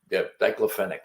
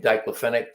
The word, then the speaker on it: diclofenac: And the main ingredient is called diclofenac, or diclofenac is how I pronounce it, which is it's an anti-inflammatory drug.